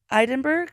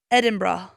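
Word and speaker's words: Edinburgh: pronounce idenburg in Scotland so you say it it eidenberg that's oh is that how you say it no how did you is that how you originally said it yeah is that what you thought it was don't so it's apparently pronounced edin bra edin bra three syllables edin bra I think I've heard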